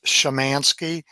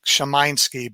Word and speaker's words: Szymanski: The first 3 characters are pronounced Shaw, so it's Szymanski, and there's no particular emphasis on any of the syllables. But if you were in Poland, the A is a long I sound, and it would be Szymanski, but everybody kind of does a little, Americanization to make it easier in the ghetto.